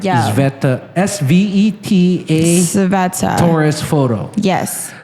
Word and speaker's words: Sveta: I think I'm pronouncing her as Sveta. I was going to say SVET. Yeah, you're right. yeah. Sveta.